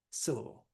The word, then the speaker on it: syllable: So is it syllable? Is it syllable? Is it syllable? It's the first one, syllable. That's how we say it.